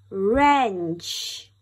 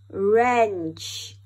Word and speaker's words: wrench: have w and r whenever w and r get together the only sound you will hear is er alright er let's do it again er wrench er wrench rap er rest very